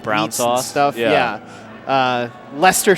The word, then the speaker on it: Leicester: brown sauce stuff yeah Leicester City English English soccer team L gotta think about this Ellie I see e ste are pronounced luster they won the the